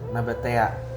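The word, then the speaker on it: Nabataea: Nabata gimana sih bacanya? Nabatea.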